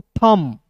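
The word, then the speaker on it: thumb: एच यू एम बी टी को पढ़ेंगे दोस्तों थंब यू यहां पे दोस्तों साइलेंट होगा यहां पे सबसे पहले यू साइलेंट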